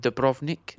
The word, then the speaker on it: Dubrovnik: Sarajevo and Dubrovnik. Yes. Dubrovnik. Those are both. That's brilliant pronunciation.